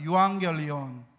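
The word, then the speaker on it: εὐαγγέλιον: 그리고 복음이란 단어는 유앙겔리온입니다. 한번 따라합시다. 유앙겔리온. 발음이 아주 좋습니다. 유앙겔리온. 혀를 너무 이렇게 안 굴리시면서 잘하고 계십니다.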